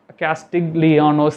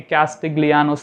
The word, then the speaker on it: Castigliano: axial loading is casted castigliono's theorem I'm very sorry again it is a chain energy method I will fix with strain energy okay always I used to pronounce it wrongly okay castiglianos theorem right so yes stay in